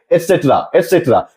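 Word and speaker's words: et cetera: तो हम लोग एक्स्ट्रा ना पढ़ करके एटसेट्रा यहां हम लोग देख सकते हैं इसका स्पेलिंग ETCETERA एटसेट्रा।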